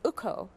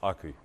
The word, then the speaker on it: Aku: Is it Uko? It's Aku. Aku restaurant, Aku yes.